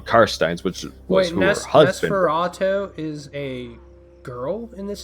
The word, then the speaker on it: Nosferatu: Does Neferatu take inspiration from... Nosferatu.